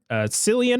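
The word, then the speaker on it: Cillian: of right hole uh cilian or killian i don't know exactly how to pronounce this actor's name i think it's killian murphy i think it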